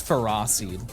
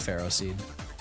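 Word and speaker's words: Ferroseed: Yeah, it's ferocied, not ferro seed.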